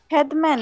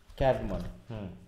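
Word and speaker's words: Caedmon: ক্যাডমন, ক্যাডমন, হ্যাঁ, ওই আমাদের ক খ এর মাঝামাঝি। হ্যাঁ, ক্যাডমন।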